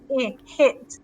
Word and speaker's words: hit: to hit him so we need to hear the h sound her hit and we need a short sound hit so all practice saying